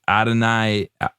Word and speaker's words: Adonai: I don't know how to pronounce his first name. It's Adonai Mitchell, wide receiver.